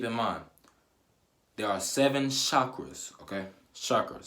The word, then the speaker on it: chakra: mind there are seven chakras okay suckers c-h a cake or a chakra chakra that's how you say it now what not